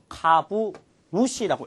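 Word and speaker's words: 株主: 그리고 조금 더 어려운 단어 주주를 카부누시라고 읽을 수가 있는 겁니다.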